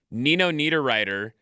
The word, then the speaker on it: Nino Niederreiter: have to pronounce their names for the Olympic pronunciation guide. Nino Niederreiter is over there representing Switzerland, I believe.